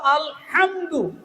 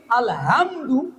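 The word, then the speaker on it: الحمد: পড়া সুবহানাল্লাহ মাহফুজ থেকে আসল আলহামদু আসল বলেন উচ্চারণ আল হা বলেন গলা থেকে সকল প্রশংসা আল্লাহর জন্য আর আমি যদি পড়ি আলহামদু সকল ময়লা বর্জন আল্লাহর জন্য নাউজুবিল্লাহ বলেন ঈমান থাকবে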